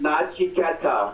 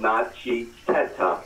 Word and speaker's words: Naji Teta: It's Naji Teta is the proverb. It's four syllables, Naji Teta.